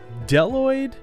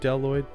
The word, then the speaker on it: Bdelloid: night but yeah we are talking about the deloid rotifer I'm there's a b at the beginning of that first word deloid deloid um it's not pronounced um I would